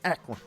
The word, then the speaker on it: Akron: Who said it ain't no promise in Akron, Ohio? What? Well, Akron. Well, if it wasn't before, guess what? You gotta say, see, I'm from the South. You can't say Akron. You gotta say Akron.